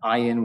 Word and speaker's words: Ayin: There's also an Ayin, which is silent as it's pronounced in modern Hebrew. In Middle Eastern Hebrew, the ayin actually has a sound. It's an ayin. It's sort of a guttural swallow.